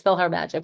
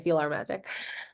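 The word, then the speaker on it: PhilharMagic: like philarmonic but it's feel her magic but I always say feel our magic um I don't know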